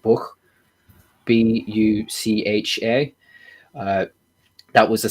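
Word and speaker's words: Bucha: if it's horrific but i believe it's pronounced like book b-u-c-h-a uh that was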